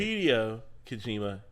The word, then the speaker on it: Hideo Kojima: Hideo Kojima. Oh my gosh, I just butchered that name. Yeah. Butchered it. Hideo Kojima, Hideo Kojima.